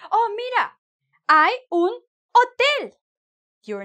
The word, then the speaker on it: hotel: oh, mira, hay un hotel. You're not going to say, oh, mira, hay un hotel. No, right? Because the H is silent, mute.